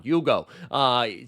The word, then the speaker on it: Hugo: I love that he doesn't pronounce the H. I think that's fun. Hugo.